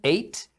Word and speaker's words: ate: geral e E então as duas palavras se pronunciam Eight o primeiro Eight é o passado do verbo comer então é comeu e o segundo Eight é o número oito olha Olha só he